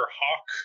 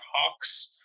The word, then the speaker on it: Hawk: It's Mr. Hawke, not Hawks. So apologies to the ghost of Charles Dickens, I guess. I was having a moment of, is which one's his first name? Is it Hawke or is it Mulberry?